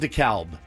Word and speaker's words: DeKalb: Oh, it's spelled DeKalb. K-A-L-B, Yes. yeah. DEKALB. Spelled DeKalb. DeKalb. But DeKalb. I don't agree.